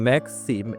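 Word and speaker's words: moi: যেমন ম্যাক্সিকে বাংলা যেটা হয় হচ্ছে কি দুইটা সিলেবল হয়, ম্যাখ একটা আর সি হচ্ছে দুইটা, তার প্রিন্স ম্যাক্সি দুইটা। ম্যাক্সি মানে ধন্যবাদ। সো ম্যাক্সিতে দুইটা সিলেবল আছে, ম্যাক্সি ধন্যবাদ, যেটাকে ইংরেজিতে বলে থ্যাঙ্কস।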